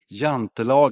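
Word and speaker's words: Jante: uh the law of is it pronounced yantan yantan yeah the law of yant correct okay the law of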